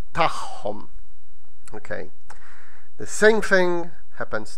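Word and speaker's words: tagħhom: And theirs is tahom. Again, because you have an akka next to an I, so both of ein. So both of them are pronounced as h.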